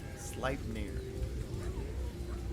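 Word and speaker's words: Sleipnir: storytelling his eight legged horse s near carries slip near now I know how to say it it was track number five with ruins SLI near his eight legged horse SLI near carries him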